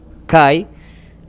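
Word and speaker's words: καί: La conjunción se escribe kai y se pronuncia que debido al ese diptongo que tenemos ahí, una vocal abierta y una vocal cerrada, ai, ¿sí?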